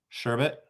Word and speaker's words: sherbet: known in my life I think 90% of people spell that word incorrectly because they think there's a second R in there I it's been in the past five years that I realized there wasn't an r in it well how do